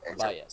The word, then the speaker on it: bias: Okay, this O is bias. se Bias.